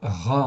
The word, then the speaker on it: רע: là sous les yeux rche Aï ça se prononce RA en fait ici c'est un adjectif qui existe